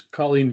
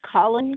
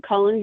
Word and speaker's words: Colleen: Uh, Miss Colleen, if you can hear me, if I say your name right, do you have any anything to add? Uh, it's pronounced Colin. Colin.